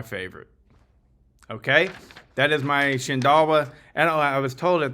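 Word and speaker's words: Shindaiwa: But it's supposed to be pronounced Shindawa.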